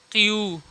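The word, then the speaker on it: Q: क्यू, इसको पढ़ते हैं क्यू।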